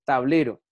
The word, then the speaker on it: tablero: Miren, tablero. Tablero. Y aquí volvemos a lo mismo. Cuando digo última sílaba, que está marcada con la sigla U, es aguda.